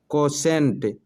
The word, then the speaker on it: quotient: कोसेंट, QUOTIENT, कोसेंट, टी के बाद आ रहा है IE। ठीक है, तो यहाँ सीटी वाले स का उच्चारण हुआ।